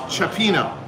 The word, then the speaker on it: cioppino: us know what what oh pronounced ciopino ciopino fish stew okay sorry neither of